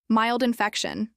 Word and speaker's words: mild infection: Mild infection. Mild rhymes with child, and the stress in infection is on feck.